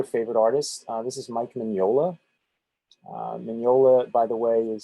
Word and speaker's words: Mignola: This is Mike Mignola. Mignola, by the way, is spelled M-I-G-N-O-L-A. The G and the N are spelled like it's pronounced like an N-Y.